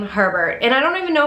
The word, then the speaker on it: Herbert: saying this right because hubert hubert would be hu so it has to be harbor which is terrible because it rhymes with sherbert and i don't know